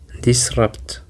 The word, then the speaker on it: disrupt: And the seventh word that we have is disrupt. Disrupt. It includes two syllables actually and the stress is on the second syllable.